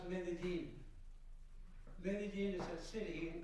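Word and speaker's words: Medellín: I pronounce Medellin.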